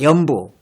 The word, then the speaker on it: 염부: 연부. 연부수니까 JAMBU가 잠이 아니고 염입니다. 염.